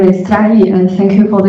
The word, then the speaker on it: Jiayi: Hello everyone, my name is Jiayi and thank you for the invitation.